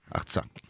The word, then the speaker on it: Artsakh: Alors, l'Artsakh, comment on prononce exactement ? Artsakh.